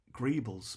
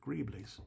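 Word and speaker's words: greebles: them uh Boolean that I always pronounce them grebles but apparently that is wrong they're greeblies allegedly so a couple bit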